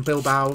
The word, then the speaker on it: Bilbao: I'm pretty sure people keep telling me I pronounce it wrong. I'm pretty sure it's Bilbao. Because I don't think you pronounce the A. Definitely not Bilbao. I think it's Bilbo.